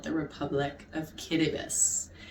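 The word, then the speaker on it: Kiribati: little island country called the rep Republic of kbus it's actually spelled cirb body but it's pronounced kbus and for any you know history Buffs out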